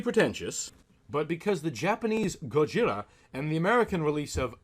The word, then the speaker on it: Gojira: the best was undeniably Gojira and I'm using the Japanese pronunciation here not to be pretentious but because the Japanese Gojira and the American release